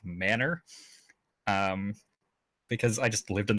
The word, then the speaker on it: Manor: this small town called Manor Texas spelled like ma n o R I didn't find out until I was like six playing it like a Hamtaro game that that spelling is actually pronounced manner because I just lived